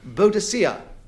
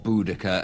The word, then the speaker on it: Boudicca: a Buddhist here or Boudicca as she is more often or rather more correctly called um Clement Freud two